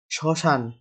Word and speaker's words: শ্মশান: শ্মশান শব্দটির শুদ্ধ উচ্চারণ কোনটি? শ্মশান।